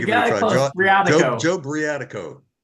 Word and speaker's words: Briatico: Briatico. Joe Briatico. Briatico, yeah.